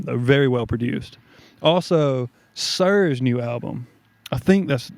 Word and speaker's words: SiR: very well produced also sir's new album I think that's how you it's capital s lowercase i capital r I think it's just pronounced sir okay fire album really